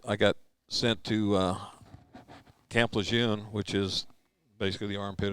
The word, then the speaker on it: Lejeune: Now they're the Lejeune family complained that we've been saying it wrong all these years. It's now Lejeune.